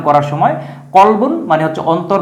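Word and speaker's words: قلب: এদের অর্থ ভিন্ন অর্থ সম্পূর্ণ ভিন্ন অর্থ কিন্তু উচ্চারণ সিমিলার সাউন্ড তো আমরা প্রথম যে শব্দটা দেখব প্রথম জোড়ার মধ্যে আছে একটা হচ্ছে কলবন কলবন মানে হচ্ছে অন্তর বা কলব যেটা আমরা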